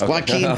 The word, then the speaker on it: Joaquin: And this new fact check that pronunciation, please. The Joker, Joaquin. It's Joaquin.